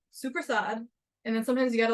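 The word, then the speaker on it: soppressata: I would have thought that it was called sopra Sada but from how his family pronounces it it's suad and then sometimes you gotta like get the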